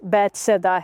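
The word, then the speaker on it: بیت صیدا: ہے۔ اور بیت سیدا، جیسا کہ ہم امریکہ میں اسے کہتے ہیں بیت سیدا، یہ ان جگہوں میں سے ایک ہے جہاں میں اسے لے گیا تھا۔ اصل میں اس کا تلفظ بیت سیدا ہے اور اس کا مطلب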